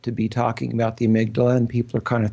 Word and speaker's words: amygdala: Well, let's start from the top here because I keep pronouncing this word wrong, amygdala.